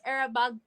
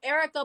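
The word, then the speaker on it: Erykah: I know a lot of people would pick era ER oh wow why am I saying her name wrong Erica Badu but me personally I'm actually been more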